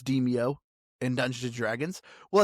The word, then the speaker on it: Demeo: was just Deio, which unless you're a dumb American like me, I just kept pronouncing it Deio, but apparently it's pronounced Deio.